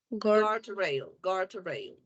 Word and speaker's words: guardrail: Yes, Gordio, guardrail. guardrail. Yes, guardrail. Yes, you don't Oh, pronounce the letter U.